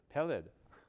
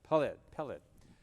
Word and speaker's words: Peled: Peled. Put the wrong emphasis on the syllable. Okay, Peled.